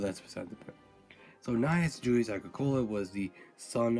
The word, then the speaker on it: Gnaeus: I don't know why, but I'm not sure exactly the reason why, but you have to say it, Gnaeus.